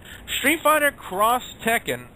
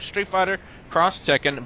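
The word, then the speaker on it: Street Fighter X Tekken: 3 and Xbox 360 Street Fighter cross Tekken that's how they officially pronouncing it a Street Fighter cross Tekken by Capcom for the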